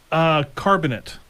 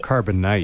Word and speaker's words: Carbonite: Carbonate. Carbonate is the best. Yeah, I used to have it. Carbonite. Okay. good. Carbonite or carbonate. Star Wars fans are having Yeah. a fit everywhere at that pronunciation.